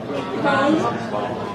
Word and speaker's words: comb: Okay, then the ending, there is no B. Lamb. Comb. Bomb. Right? Not bomb. Climb. Right? Ended with an N.